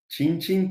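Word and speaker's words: cin cin: We say "chinchin" pretty often It's just a homatopoeia Cheers!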